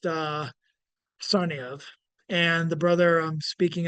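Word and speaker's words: Tsarnaev: The name of the brothers are pronounced Sarniev, and the brother I'm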